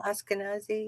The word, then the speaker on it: Ashkenazi: Ashkenazi?